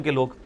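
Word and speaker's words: قُلْ: है ना जी अच्छा लेकिन जो हम प्रोनाउंस कर रहे होते हैं ना वो यह कर रहे होते हैं यह वाली काफ जिसको हम कश वाली काफ कहते हैं अब यह वाली जो काफ है कैंची वाली काफ और यह दूसरे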